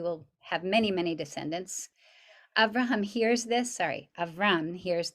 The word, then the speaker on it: Avraham: of that you're now no longer going to be called avram but rather avraham you're going to get that extra syllable in your name to indicate this covenant